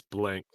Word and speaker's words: Blanc: of mel blanc um isn't it blanc it is a c yes it's blank oh he still pronounces